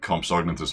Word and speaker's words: Compsognathus: I don't know if those are meant to be Compsognathus Longipes or Procompsognathus Jurassicus. Doesn't really matter. You can pronounce the G in Compsognathus, but strictly you shouldn't. Technically.